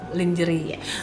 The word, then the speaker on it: lingerie: Lingerie. Bacanya lingerie apa lingerie sih?